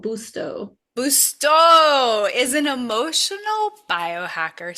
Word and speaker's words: Busto: how do you say it? BTO. B U S T O BTO.